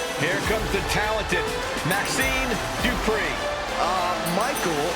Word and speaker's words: Dupree: Here comes the talented Maxine Dupree. Michael, it's pronounced Dupree.